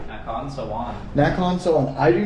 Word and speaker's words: Nakhon Sawan: Nakhon Sawan. How do you say? Nakhon Sawan.